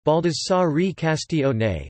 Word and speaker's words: Baldassare Castiglione: Baldassare Castiglione, Italian pronunciation, Baldassare Castiglione, December 6, 1478 to February 2, 1529, Count of Casadico, was an Italian courtier, diplomat, soldier and a prominent Renaissance author.